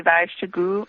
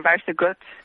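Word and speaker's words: vær så god: And they usually, like if you're in a store buying something, they'll say varsågod or varsågod, depending on where you are, they'll pronounce it differently.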